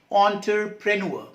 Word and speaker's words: entrepreneur: Pronunciation and spelling both are tricky. E-N-T-R-E-P-R-E-N-U-E-R, entrepreneur, right?